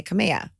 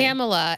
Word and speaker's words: Camella: in Mexico they say kameha oh but wait so how what's the correct pronunciation it's Pamela with the c Pamela with the c camela and is that how